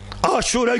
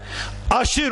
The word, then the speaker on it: aşure: olacağım sonuç sonuç aşurenin aşure günü dediğimiz Muharrem'in 10'u Aslında şuradan Aşır onuncu gün aşırı derler ama lisanımız a telaffuz olarak aşure diyoruz onuncu gün o güne kadar